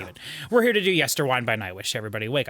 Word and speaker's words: Yesterwynde: commenters who did say it's pronounced yester wind as in Winding a clock not wind as in windmill so it made me